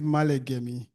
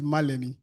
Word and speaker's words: Malegemi: The spelling is Malegemi, but I'm actually originally from Delta. Our deputy president said we are now global. There are no borders. The pronunciation is Malemi, which makes it easy for everybody.